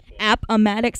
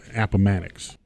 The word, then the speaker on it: Appomattox: Appomattox. I see. I see how you guys can edit these different pronunciations.